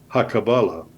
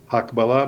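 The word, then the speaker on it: הקבלה: It's spelled exactly the same way as hakabala, but not pronounced that way. Hakbala means parallel.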